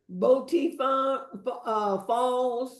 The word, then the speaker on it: Boti Falls: And we also went to the Boti Falls. Is that how Yes. you pronounce it?